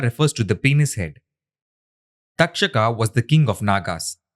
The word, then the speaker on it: Takshaka: In this chapter, let us consider the takshaka as a friend story. We have shown how Indra and his wife Indrani are associated with secretions by sexual organs. Takshaka can also be pronounced as dakshaka.